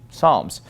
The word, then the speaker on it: Psalms: with PS but we we usually don't uh pronounce the P right for example The Book of Psalms we don't call it Psalms we just call it Psalms uh psychologist we would